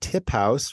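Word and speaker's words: TipHaus: can find you at tip house which is tip but house is spelled h-a-u-s that's sort of yeah German word little it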